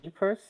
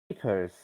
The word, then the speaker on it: Ypres: I think it's spelled Eypers, and it's pronounced Ypres. Um, Ypres.